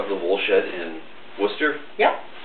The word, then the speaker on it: Worcester: So we're here with Barbara of the Wool Shed in Worcester. Yep.